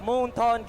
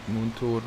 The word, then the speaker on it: Moonton: Usually we said like Moonton or something, but Moonton. Moonton.